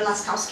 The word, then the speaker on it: Lascaux: the Lascaux Caves.